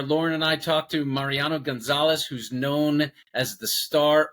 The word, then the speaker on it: Mariano González: Mariano Gonzalez.